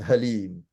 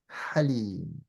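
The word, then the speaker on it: حليم: So Halim, for example, is not Halim, it's Halim. Okay. Halim. So that's the difference between the two. So these two makes the difference when you're pronouncing the words, inshallah. That's a perfect description. Like, the mouth movement is almost the same, but the ha comes from the mouth. The ha comes from below, from your throat.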